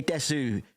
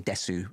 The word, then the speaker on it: desu: She didn't say desu, which is something that children can do in Japan. Because we say des, but it's actually desu. It's actually spelled desu.